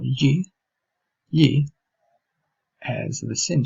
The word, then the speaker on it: gli: Iniziamo con, per esempio, come pronunciare la sillaba gli. La sillaba gli trova lo stesso suono che è presente nella parola inglese million, in mezzo alla parola million.